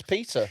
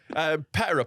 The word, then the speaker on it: PETA: Like, Is that how you pronounce it? I always thought it was- PETA. I always thought it was Peter. Yeah, it sort of is, but I don't know, because I think it sort of differentiates it from the name Peter by saying PETA in it.